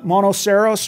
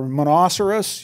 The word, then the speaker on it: Monoceros: this time uh uh monoceros or monocerous you know depending on how you like to pronounce it kind of like rhinoceros um the Unicorn right